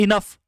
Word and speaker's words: enough: example देखो, phone, PHONE, phone, PH को आपने यहाँ फॉ पढ़ा, फॉ, और वहीं पे ENOUGH को भी फॉ पढ़ा, इनफ, इसे आपने पढ़ा इनफ,